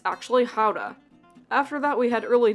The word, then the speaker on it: Gouda: cheese factory and we learned that gouda isn't pronounced gouda at all it's actually hauda after that we had early dinner and then